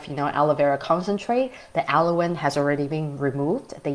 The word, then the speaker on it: aloin: a substance from aloe vera leaves it's called alawin okay it's spelled as a-l-o-i-n Halloween okay so aloin is